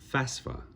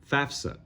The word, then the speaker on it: FAFSA: uh things that I learned is the proper pronunciation of FAFSA see I can say it just fine now before nope FAFSA FAFSA man still see my brain fights it